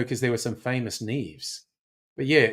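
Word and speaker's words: Niamh: And this one I only know because there were some famous Neves. But yeah, you look at that and say it's Neam. But Neve.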